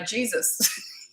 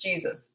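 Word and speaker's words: Jesús: from Mexico and uh called the poor guy Jesus but he was used to it it was of course Jesus and it's pronounced Jesus so um yeah that was embarrassing and I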